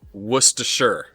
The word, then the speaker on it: Worcestershire: And then that is pronounced Worcestershire.